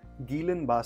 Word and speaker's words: Guillain-Barré: or Gillan bar syndrome or more correctly pronounced as Gillan bar syndrome is an outbreak